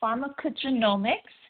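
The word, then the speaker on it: pharmacogenomics: Um, pharmarmaccogenomics is spelled uh p h a r m a c o g e n o m i cs pharmarmacco genomics.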